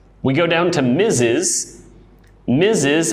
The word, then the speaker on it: Mrs: difficult to understand we go down to Mrs misses it's pronounced like with a z Miz is Mrs